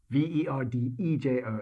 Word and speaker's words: Verdejo: the first one is spelt with a j v-e-r-d-e-j-o and it's pronounced verdejo this is a completely different grape